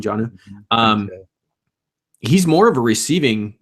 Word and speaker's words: Jonnu: tight end, Jonnu Smith, I think is how you would pronounce his first name, Jonnu.